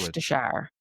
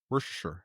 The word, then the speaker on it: Worcestershire: So, That's how it's always been pronounced. Pho. Pho. Pho. That sounds wrong. That just sounds wrong. It's a different language. Worcestershire. Worcestershire.